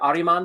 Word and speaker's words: Ahriman: Is it Ahriman Legacy series? Yeah, that's actually right.